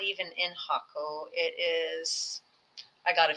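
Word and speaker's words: Jacó: That's how it's pronounced, Jaco, and where there's another Playa Hermosa that I was staying at.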